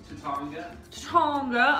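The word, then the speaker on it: Taittinger: Just drinking our Tattinger. Is that how you pronounce it? It's Tatanga.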